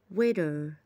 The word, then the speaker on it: waiter: waiter waiter. برضو هنا حرف الاي جاي بعديها تي، حرف التي كده يعتبر بيتنطق زي الدي بالظبط. waiter waiter.